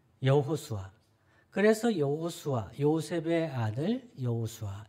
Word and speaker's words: 여호수아: 당시에 매우 흔한 이름이었습니다 물론이 예수는 헬라식 발음이에요 그리스식 발음입니다 히브리식 발음은 여호수아 있니다 여호수아 그래서 여호수아 요셉의 아들